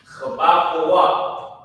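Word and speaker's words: חבקוק: So this is how you say Habakkuk in Hebrew. Ha, ba, kwa, wa, kwa, wa, chabakwa.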